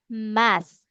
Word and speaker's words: math: So you have to pronounce this one math. Math math math math math math. You should be blowing air.